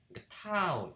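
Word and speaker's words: τ: 그러면 이제 그래서 각 운동량의 시간 변화량은 r 크로스 f고, 이때 r 크로스 f를 갖다가 우리가 타우, 읽을 때는 타우라고 읽고 이거를 우리가 이제 토크라고 읽습니다.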